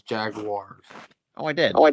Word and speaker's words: Jaguars: did I mispronounce the Jaguars? You said Jaguars. It's Jaguars.